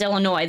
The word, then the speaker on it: Illinois: I've been to Chicago a handful of times, but if you don't know, one, it's pronounced Illinois. The S is silent, so anybody that's wondering, and two is uh no one from the rest of Illinois pretty much likes Chicago.